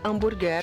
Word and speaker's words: hambúrguer: Palavra terminada em R, com a penúltima sílaba mais forte, acento obrigatório. Senão ficaria hambúrguer.